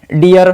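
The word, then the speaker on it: deer: इसे डीर नहीं, डियर pronounce करेंगे।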